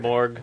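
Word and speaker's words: Snejbjerg: Garth Ennis and Peter Snedberg, covered by Glenn Fabry. This is cover dated March '98. The J is like an E sound, Oh, like you pronounce it. Sneborg.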